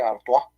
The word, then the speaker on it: Artois: un pozo un pueblo se llama artois se escribe PR se artua entonces este pueblo hicieron